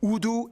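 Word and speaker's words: Urdu: Udu and English. Yeah, that's right. It's pronounced udu, not for reference.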